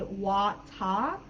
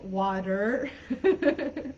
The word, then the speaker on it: water: Water, I think water is one of the most popular words. In the UK pronunciation, they would say water, versus in US, water.